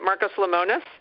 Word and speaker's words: Marcus Lemonis: Marcus Lemonis?